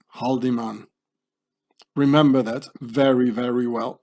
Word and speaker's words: Haldemann: name very very well in Swiss German you pronounce this houdaman Howen it means to hit or to strike how the man you know Nazi templates the Swiss Mercenaries but let's say haldiman remember that very very